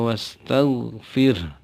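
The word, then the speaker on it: وَاسْتَغْفِرْ: berikutnya fasabbih bihamdi rabbika wastagfir hati-hati jangan pakai ge Jangan tagfir karena itu bukan huruf g tapi gain tagfir eah disarankan untuk melihat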